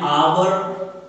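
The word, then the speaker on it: hour: An apple, an ice cream, N import, an आवर, हालांकि शुरू में एच है लेकिन आवाज आ से शुरू हो रही है।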